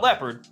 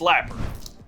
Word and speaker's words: Lapurd: It's not leopard, it's Lapurd.